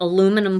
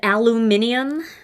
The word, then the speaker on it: aluminium: I watched something about aluminum foil on TikTok that I've been saying it wrong. And I guess it's supposed to be said aluminium.